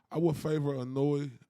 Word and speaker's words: Inoue: Inoue. I sound like I'm saying anyway.